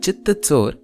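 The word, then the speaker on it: चित्तचोर: Therefore, notice how in the Marathi word Chittatsor, we find both the ch and the tsa pronunciations.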